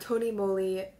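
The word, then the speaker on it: TONYMOLY: and so I'm finally saying it right at Tony moly multicolored pencil my school looks um I don't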